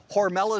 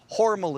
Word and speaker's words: Hormel: John mispronounced Hormel. No, Hormel is the company, Hormel is the family. It was changed by the marketing department because they thought Hormel sounded too German.